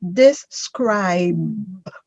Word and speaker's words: describe: describe describe yes do not try to pronounce the e at the end of the word because you are giving it an extra syllable that just it doesn't belong in that word say it again um